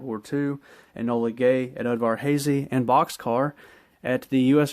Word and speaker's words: Udvar-Hazy: There was two B-29s that dropped atomic weapons during World War II, Enola Gay at Udvar-Hazy, and Boxcar at the U.S.